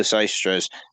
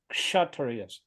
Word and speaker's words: Kshatriyas: The Yaistras, or the administrative. It's actually pronounced KSH, Kshatriyas.